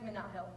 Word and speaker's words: Minahil: hey my name is minahil but here at University I say hey have you heard of Stan Hill my name is Minot Hill like Sam Hill but with 1l it's easier to pronounce